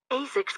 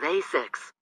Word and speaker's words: ASICS: The last syllable of ASICS, S-I-C-S, sounds like 6.